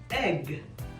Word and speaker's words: egg: Si han entendido la regla hasta hoy, sabrán que es en corto. Es por eso que esta palabra se pronuncia egg.